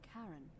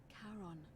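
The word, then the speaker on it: Charon: it's just as you described it only your pronunciation is a little off the name you heard wasn't karen it was c-h-a-r-o-n as in caron the ferryman of the dead in exchange for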